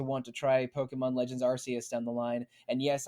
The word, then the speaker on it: Arceus: And yes, I'm saying Arceus with a soft S. That is deliberate. I will not take this slander from Jono and others trying to call that thing like it was spelled with a K.